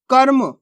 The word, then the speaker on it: कर्म: का म और रेफ की मात्रा तो कैसे पढ़ेंगे? कर्म कर्म। दोस्तों देखो आधा रा का उच्चारण हो रहा है यहाँ पे, अपन ने कर्म नहीं पढ़ा, इसको कैसे पढ़ा?